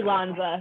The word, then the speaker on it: Lanza: It looks like Lanza, like Tony Danza, but it's actually Lanza.